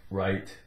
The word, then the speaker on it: write: note whatever WRI te take off the W RUP RUP ight right okay then we have